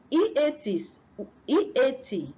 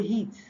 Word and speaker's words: eat: E-A-T, which is eat, they say heat.